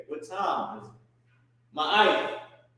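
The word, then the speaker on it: מה: Ma. What or ha? It's what we say all day. Maha, ma. That's how you pronounce it.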